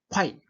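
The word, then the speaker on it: 快: 자, 그 다음에 키는 아음이니 역쾌자 초발성아니라 키는 어금니 소리이니 쾌자 쾌라고 읽으면 안 됩니다. 사실은 요 오, 아, 이 그걸 빨리 해서 코, 아, 이를 빨리 이름절 그죠? 콰이 콰이 이렇게 이렇게 해야 됩니다.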